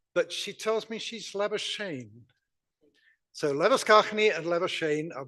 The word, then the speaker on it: Labuschagne: Our next speaker is Kim Leviskachny, but she tells me she's Labuschagne.